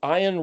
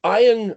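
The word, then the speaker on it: עין: pronounced erik or charek, like the ayin, like the eyeball, it's a soft guttural from the way back in your throat, like you're gargling. If you had water in your mouth and you're going, oh, letting the air bubbles come up through the liquid, that's technically a moderate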